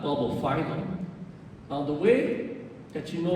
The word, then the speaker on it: Bulbophyllum: The only time it's pronounced phylum is in the word phylum, which is a taxonomic classification. So if you see phylum within a genus name, it's always pronounced phylum.